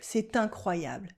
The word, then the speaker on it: C'est incroyable: You can do la liaison here. C'est incroyable. Incredible. That can be good or bad. But generally unbelievable. C'est incroyable.